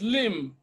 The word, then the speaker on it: limb: words then option C C is limb B is silent again option D is